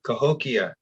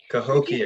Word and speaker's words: Cahokia: Are you familiar with the tribe that might sound like Cahokia? Yeah, Cahokia. Ah. Cahokia, yeah.